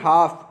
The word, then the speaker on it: half: Next देखते हैं हाफ, तो हाफ में भी क्या है, HALF, यहाँ पर आपकी एल जो है वो क्या होगी, साइलेंट होगी।